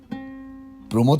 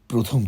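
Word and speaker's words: প্রমথ: প্রমদ চৌধুরীকে তুমি বলতে প্রথম চৌধুরী জনৈক উচ্চারণ করতে গিয়ে সর্বদায় জৈনিক বলে ফেলতে।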